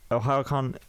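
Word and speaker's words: Ohayocon: OhioCon is spelled OHAYO.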